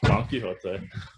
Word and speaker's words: Don Quixote: Yes, because we'll never pronounce it the correct way. Don Quixote.